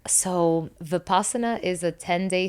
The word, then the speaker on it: Vipassana: You're gonna have to correct me on the pronunciation of this. Vipassana? Yes, Vipassana.